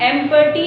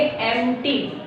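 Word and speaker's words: empty: उसके बाद एम्प्टी, अब इसको हम एम्पर्टी नहीं बोलेंगे, इसका जो P है ये साइलेंट है, इसलिए हम इसको बोलेंगे एम्प्टी। एम्प्टी यानी खाली।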